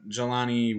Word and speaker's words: Jelani: mine um then they also drafted joe jalen jelani woods that's how you pronounce that i don't know why i fumbled